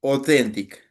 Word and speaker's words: authentic: And I'm sure there's something else in authentic. Authentic. AU sound like O. Authentic.